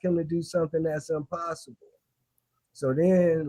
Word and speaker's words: ImPossible: So there's this word most people pronounce it impossible but the word actually says I'm possible and um it's it's two meanings.